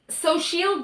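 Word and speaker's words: Xochitl: So, Sochil Gomez, I did look up how to pronounce her name because Ben Shapiro's because I wanted to be respectful.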